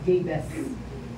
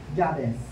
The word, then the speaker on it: Jabez: Sa English niya, napagkakabigkas, Jabez. Dahil Tagalog tayo, Jabez.